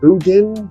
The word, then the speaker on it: boudin: Boudin? Right, you have to say it's boudin.